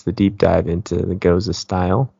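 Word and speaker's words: gose: out like like learning oh goza okay what what does that mean I I probably you know mispronounced it at first thought it was go or something oh yeah I probably called it like goo or ghost ghost um so I quickly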